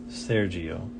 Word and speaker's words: Sergio: Sergio. Yes, G is pronounced like a G sound. Like a goo.